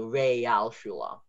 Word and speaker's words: Realschule: But most of the time, if you hear A in German, it's E. So Realschule. That's pretty important. So Realschule. And then the A sound, Realschule is spelled with an A. And ignore the sometimes O for now, because that might get a little complicated. But for now, the Real, that's spelled with an A. So if you're Real, it's not real, it's Real. So it's a different spelling.